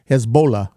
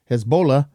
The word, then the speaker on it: Hezbollah: of Hamas and Hezbollah Hezbollah actually I said it wrong my bad Hezbollah to become duly sworn